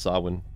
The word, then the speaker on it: Samhain: season of sawin uh yes it's pronounced sawin called SOS if that's